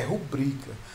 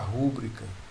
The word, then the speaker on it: rubrica: A pronúncia correta é rubrica, mas tem gente que ainda insiste em pronunciar rúbrica.